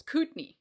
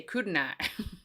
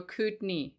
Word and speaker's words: Kootenai: It's Kootenai. Kootenai County. I was used to say Kootenai. Kootenai? No, they're like, no, Kootenai.